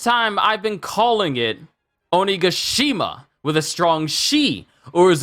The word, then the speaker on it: Onigashima: someone please correct me I just hear it as onigashima but not only goshima I rewound the video I think I've been saying it wrong all these years it's onigashima it's good to see mominosuke